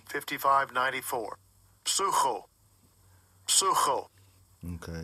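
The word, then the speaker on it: ψύχω: Sucho. Sucho. Okay, it's pronounced suko, but it's psycho in English, as we call it.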